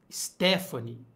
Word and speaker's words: Stefani: isso gente ainda não meu nome se fala Stephanie na tela é mentira